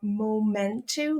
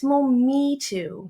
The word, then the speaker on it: Mometu: I kept calling the app that Harry works for Momentu, like a moment. It's Mometu. He said it right. He works for him. But I said it wrong multiple times. It's Mometu, as you can see in the logo.